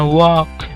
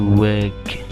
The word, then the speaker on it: work: Bacanya jangan walk. Ya, tapi work.